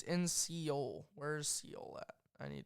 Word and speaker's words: Seoul: Seoul.